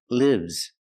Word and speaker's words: lives: this is live lives the S makes a zebra sound Z lives I live in a house you live in a house but he lives he lives in a